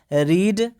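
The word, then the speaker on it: read: देखिए स्पेलिंग तीनों का सेम ही होता है, लेकिन हम लोग प्रोनाउंसिएशन इसका अलग अलग करते हैं, ठीक है ना।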